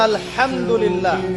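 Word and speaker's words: الحمد لله: আপনি পড়ছেন আলহামদুলিল্লাহ শব্দটা কি আলহামদুলিল্লাহ এই হা এর মাখরাজ কোথায় কন্ঠনালী মাঝখান থেকে এখান থেকে আপনি উচ্চারণ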